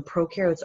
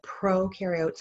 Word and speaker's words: prokaryotes: So the way I remember this is pro rhymes with no. So prokaryotes have no nucleus.